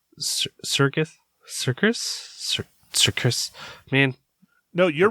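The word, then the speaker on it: Serkis: Dano John turtle toow and Andy uh C Circus Circus Circus man no you're right it's circus that's how you pronounce it all right all right and uh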